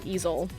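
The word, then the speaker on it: Eizzil: e-i-z-z-i-l i can't spell it's lizzy backwards um that is pronounced easel um and there is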